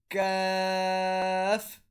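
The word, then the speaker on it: ك: Next one is Kaf. So Kaf is pronounced when the back of the tongue touches the palate a little closer to the front. So the method of pronouncing Kaf is when the back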